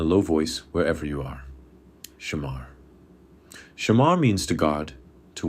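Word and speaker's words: שמר: Pronounce it with me in a low voice wherever you are. Shamar.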